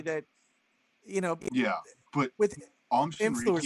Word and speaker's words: Shinrikyo: I want to pronounce this correctly. What is it? What's the cult's name? I'm sorry. Shinrikyo.